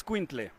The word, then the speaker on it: Xolo: Xolo it's Squintle. Xolo Squintle.